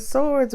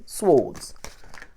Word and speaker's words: swords: I hate when people pronounce the W. Swads. Oh, it's just up English. It's swords. I don't know.